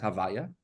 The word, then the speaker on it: Havaya: What's the difference of Havaya, Yud Kei Vav Kei, and since you cannot pronounce it, so we just rearrange the letters, and that's why you pronounce it as Havaya.